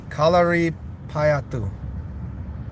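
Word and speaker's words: Kalaripayattu: Kalia Peatu. Kalia. How do you say it? Kalari Payatu.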